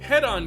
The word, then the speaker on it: Hedon: Yeah, I pronounced that Hedon. Yeah, that's right, I pronounced the thing correctly Head because...